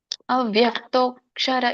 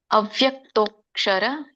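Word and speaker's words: ಅವ್ಯಕ್ತೋಽಕ್ಷರ: ತಿಳ್ಕೊಂಡು ಬರೋಣ ಅವ್ಯಕ್ತೋಕ್ಷರ ಇತ್ಯುಕ್ತಹ ಅವ್ಯಕ್ತೋಕ್ಷರ ಇಲ್ನೋಡಿ ತೋ ಆದಮೇಲೆ ಮತ್ತೆ ಅವಗ್ರಹ ಇದೆ ಅವಗ್ರಹ ಯಾವಾಗಲೂ ಇದ್ದಾಗ ಕೂಡ ನಾವು ಅನ್ನೋ ಅಕ್ಷರವನ್ನ ಬಳಸಬೇಕು ಅಂತ ಹೇಳಿದೀನಿ ಸೋ ಇದನ್ನ ಬಿಡಿಸಿದಾಗ ಅವ್ಯಕ್ತಹ ಅಕ್ಷರಹ ಅಂತ ಹೇಳ್ತಾರೆ ಕೂಡಿಸಿದಾಗ ಅವ್ಯಕ್ತೋಕ್ಷರ ಅಂತ ಆಗುತ್ತೆ ಸೋ ರಾಗ ಬದ್ಧವಾಗಿ ನಾವು ಹಾಡಬೇಕಾದ್ರೆ ಅವ್ಯಕ್ತಕ್ಷರ ಅಂತಾನೆ ಹೇಳಬೇಕಾಗುತ್ತೆ ಸೋ ಸಪೋಸ್ ಯಾರಿಗೆ ಅದನ್ನ ಉಚ್ಚಾರಣೆ ಮಾಡಲಿಕ್ಕೆ ಬರೋದಿಲ್ವೋ ನೀವು ಅವ್ಯಕ್ತ ಅಕ್ಷರಹ ಅಂತ ಹೇಳಬಹುದು ಅವ್ಯಕ್ತ ಯಾವಾಗಲೂ ಮಧ್ಯದಲ್ಲಿ ಎಂಟು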